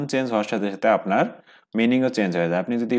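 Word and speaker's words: 妈: যেমন এখানে মা, মা ফার্স্ট টোন আছে, তাহলে মা মানে হচ্ছে মাদার, মা।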